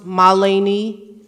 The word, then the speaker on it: Mahalini: y Cooper good evening my name is pronounced Malini for all the Educators